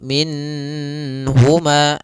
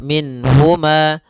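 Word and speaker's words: مِنْهُمَا: Nun di sini harus jelas karena bertemu dengan huruf ha maka tidak boleh ditahan. Misalnya ditambah dengan gunah minhuma. Nah, ini enggak boleh. Atau ditahan suaranya minhuma. Enggak boleh juga. Maka langsung saja minhuma. Dan dia tidak boleh mantulnya, tidak boleh minahuma.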